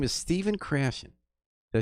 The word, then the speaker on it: Stephen Krashen: His name is Stephen Krashen.